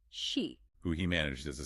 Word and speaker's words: C: Kimihiko and his twin sister, Degree C, pronounced she.